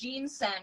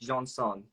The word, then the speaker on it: Jeansonne: last name is pronounced jeansen right or it's pronounced it's it's a French last name so it's pronounced John song it's okay everyone messes